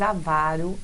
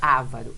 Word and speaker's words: avaro: Bólide também, mas avaro não. Avaro não. Essa é a sílaba tônica, não é ávaro, é avaro, de avarento, certo?